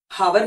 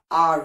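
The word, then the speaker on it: hour: है H silent है हावर नहीं होता आर होता है एच साइलेंट है क नॉलेज नहीं होता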